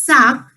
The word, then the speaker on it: sacs: To make it plural for saying bags, the word is SACS. I've added an extra S, but the pronunciation will remain same. It will be sac only. I've told you, whenever you're making any word plural by adding S, the pronunciation remains same as its singular form.